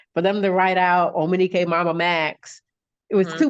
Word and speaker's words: Omonike: It's Omonike. You can spell it Omonike, OMONIKEMM.